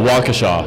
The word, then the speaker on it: Waukesha: Waukesha. Waukesha.